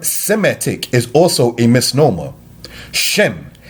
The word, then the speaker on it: Shem: Shem is the Hebrew word, Sem is the Greek translation of such. Since Greek does not have a sh syllable, it is thus metathesis said as Sem instead of the Hebrew Shem.